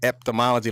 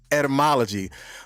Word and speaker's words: etymology: uh etymology i know i've been saying it wrong for a long time i've been like man i keep saying eptomology like there's a p in the front but it's etymology but the etymology of